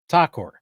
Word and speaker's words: Thakur: about AI and oh uh, am I pronouncing your last name correctly? Takur. Yes, Takur.